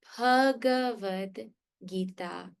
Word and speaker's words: Bhagavad Gita: Now, if you learn Sanskrit, now that you have learned Sanskrit, you should never pronounce the word Bhagavad Gita wrong.